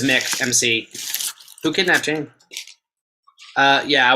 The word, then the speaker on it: McDonald's: UK people watching, do you say McDonald's or do you pronounce it correctly? No. Loaded question. Like M''C or MAC.